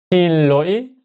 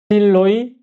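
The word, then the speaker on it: xin lỗi: 그래서 신짜오 신짜오 이렇게 세 번째 요거는 신로이 실로이 이렇게도 알아들어요. 실로이 원래 발음은 여기 성조가 있죠.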